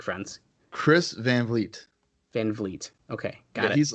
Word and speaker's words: Van Vliet: to me we're like friends chris van vliet van vliet okay he's like a kind of a well-known